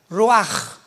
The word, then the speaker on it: ruach: hebreo es como suena ruach r Raúl u a c h pero la ch en el hebreo se pronuncia como J raj es la palabra para